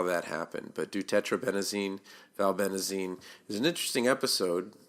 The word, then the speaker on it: deutetrabenazine: in the next one, it's deutetrabenazine, and it's like like the first 3 letters of 2 in French, tetra, like 4, and then benazine.